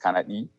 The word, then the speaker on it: Kanadi: It's pronounced Kanadi in the Bra language here in southern part of Borno State, our local government to be precise.